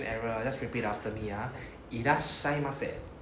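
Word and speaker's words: いらっしゃいませ: Irashaimase. いらっしゃいます。 So the ira, right? IRA, right? They have double S immediately afterwards.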